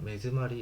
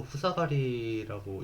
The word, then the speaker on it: 目詰まり: 리무트 키리프드 전삭 치커기 깎여나온 부스러기마루 막히다 매즈마리 이것도 후사가리라고 읽기 쉬운데 이거 매즈마리라고 읽는다고 하더라고요.